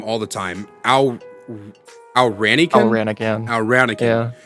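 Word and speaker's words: Al Ranican: Al Ranikin. Yeah. I was calling you Alcarian for the longest time.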